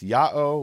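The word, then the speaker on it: Ya'o: one instance which is yota Alpha Omega the letters pronounce Yahoo which presumably is equivalent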